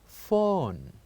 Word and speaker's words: phone: And we said words that has the P and H sound, it is pronounced as fa, fa sounds. So let's listen to the first word. The first word we have here is phone.